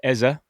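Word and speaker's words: Eze: Then we had Eza because that's how we should pronounce it.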